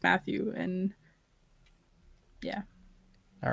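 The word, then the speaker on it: Mathieu: french guy look i i googled it and i looked up the pronunciation and it was that way it's procrastination it's matu most of these things are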